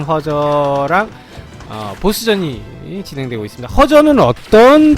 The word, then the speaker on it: 허저: 예, 말씀하신 사이에 쿄저 아니고 허저입니다. 예, 일본식 발음 쿄저고 한자 발음 허저인 우리나라식 발음 허저랑 보스전이 진행되고 있습니다.